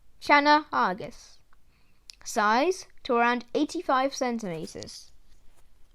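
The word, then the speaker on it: Channa argus: snakehead the northern snakehead scientific name shanna argus pronunciation shana argus size to around 85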